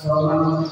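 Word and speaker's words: صمد: Ahad, somad, harus dibaca. Ahad, somad, begitu harusnya. Itu bacaan Rasulullah.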